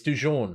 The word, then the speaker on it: Dujon: Is it Let's have a look. Duquan? No, it's Dujon.